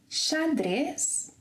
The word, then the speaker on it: xadrez: repeat after me, xerife, xadrez, xarope, xícara, show. So whenever it is at the beginning of a word, pronounce the letter X as sh, as in shoes.